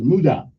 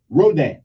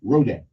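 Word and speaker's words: Rodin: I think his last name is Mudah yeah Rodan excuse me Rodan okay but they spell r-o-d-i-n how am I supposed to know it I mean how am I supposed to know it's it's pronounced like a r-o-h-d-a-n how am I supposed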